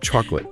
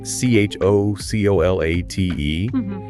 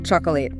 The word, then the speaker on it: chocolate: Or take chocolate. We spell it c h o c o l a t e. But we usually say chocolate. Chocolate. Not chocolateate.